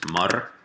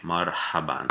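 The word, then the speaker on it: مرحبا: Okay, so pronounce it like this: marhaban. Okay, marhaban.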